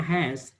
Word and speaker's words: has: Perhatikan ya, bacanya has. She has a pen. She has a beautiful house gitu loh. Perhatikan itu has itu she has itu kayak seperti ada z ya.